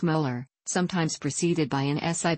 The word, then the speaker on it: molar: denoted by a capital letter M pronounced molar sometimes preceded by an